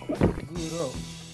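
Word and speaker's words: マグロ: Maguro? Maguro. Maguro. I was pronouncing it wrong. Maguro.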